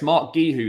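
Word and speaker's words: Marc Guiu: to the kid gueho Mark gueho okay it's Mark gu who then um fair enough Mark gu who um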